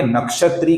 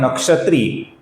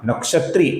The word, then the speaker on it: नक्षत्री: और आगे का नाम है नक्षत्री, जिसका त्रि दीर्घ है। इसका हमें लंबा ई से उच्चारण करना है। कुछ लोग इसका नक्षत्री ऐसा छोटा ह्रस्व उच्चारण करते हैं, जो कि गलत है। इसका सही उच्चारण है नक्षत्री, नक्षत्री।